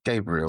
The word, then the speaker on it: Gabriel: How do you pronounce it? Gabriel.